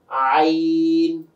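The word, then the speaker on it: عين: এরপরে হচ্ছে আইন। সাধারণ জনগণের কাছে বা আপনাদের কাছে সবচেয়ে কঠিন যে হরফটা লাগে, আইন। গলাতে একটু চাপ দিয়ে বের করতে হয়, আইন, হলকের মাঝখান থেকে।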